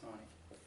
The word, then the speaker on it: Taney: Looks like Taney, pronounced Taney.